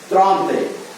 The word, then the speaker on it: trente: So, here, En, we are pronouncing it as R. Trente.